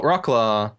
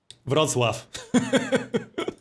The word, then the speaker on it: Wrocław: Oh, Wroclaw just got settled. Or Wroclaw, how do you say it? Wrocław.